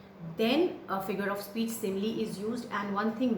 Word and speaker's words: simile: They are simile, not smiley, it's simile, metaphor, personification, apostrophe, oxymoron, hyperbole and onomatopoeia.